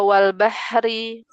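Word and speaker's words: وَالْبَحْرِ: Ee wal bahri wal bahri wal bahri.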